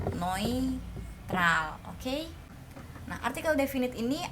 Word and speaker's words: neutral: Ingat, EU jadi OI, neutral, oke?